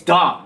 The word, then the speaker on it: Dahm: Cuz they they say, but it's Dom. It's Dom, right?